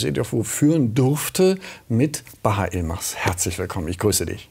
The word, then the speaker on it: Yılmaz: Also es ist richtig türkisch ausgesprochen, wäre es Baharsh. Baharsh. Yılmaz.